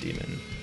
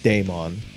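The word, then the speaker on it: daemon: like uh like demon you can spell d-a-e-m-o-n but it's still oh yeah it's still actually just pronounced demon demon i would just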